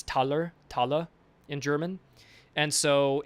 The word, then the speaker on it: Taler: That's where we get the word dollars from and it's pronounced dollars. And so in German that t it's not dollar, it's taler.